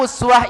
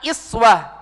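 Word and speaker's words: أسوة: atau diucapkan dengan kata iswah? Tolong perhatikan Bapak Ibu. Uswah harokatnya di mana? Harokatnya apa? Dhamma. Dhamma posisinya di mana? Di atas. Sedangkan iswah harokatnya kasroh. Posisinya di bawah.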